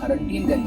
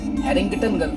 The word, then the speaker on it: हैरिंगटनगंज: ये काजी का सराय शुरू हो जाता है यहाँ पे, और यहीं से हमारा जो ब्लॉक हरंटीनगंज है, हैरिंगटनगंज उसको सही एक्चुअली उच्चारण करते हैं उसका, इसकी सीमा यहाँ पे